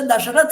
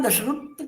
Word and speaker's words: दशरथ: तो इसी तरह से जैसे दशरथ है हम लोगों के यहां तो उनकी दशरत कहते हैं शत्रुगन है हमारे यहां तो उनके य शत्रु ऐसे बोलते हैं यानी उच्चारण भेद केवल है शब्द वही है और उसमें तो एक